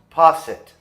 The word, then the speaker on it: posset: a delicious dessert and the way they're spelled makes you think it's french but it's not it's english okay so it's pronounced posset going to need a